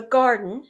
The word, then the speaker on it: Gardyn: It's the garden spelled with a y, g-a-r-d-y-n.